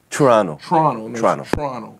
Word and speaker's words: Toronto: north, all the way from Toronto. That's how they say it. Toronto.